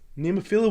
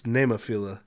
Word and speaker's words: Nemophila: Nemophila will be playing, I guess, Do I say that wrong all the time? I guess it's Nemophila, and I pronounce it wrong all the time.